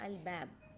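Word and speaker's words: الباب: with the mim, like al bab. Al will not join with the ba.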